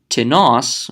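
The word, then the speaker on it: τινός: gender that I'm following tonneaus notice the accent goes at the end on the last syllable rather than T nos which was asking in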